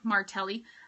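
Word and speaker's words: Martelli: hard to find you can find them online martelly um it is spelled m-a-r-t-e-l-l-i is martelly um it's amazing so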